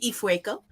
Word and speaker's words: Ifueko: her respect okay say you're right okay jordan ifueko and this book follows a girl named tarasai